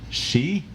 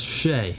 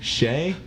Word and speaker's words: shea: bath and body works ultra she that's shea shea body cream you've never seen eight